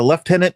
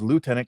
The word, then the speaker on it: lieutenant: Uh Alec uh left tenant is uh the based on the British uh pronunciation uh and Canada being a Commonwealth country uh I would assume all Commonwealth countries use the term left tenant and where the Americans use lieutenant because that's kind of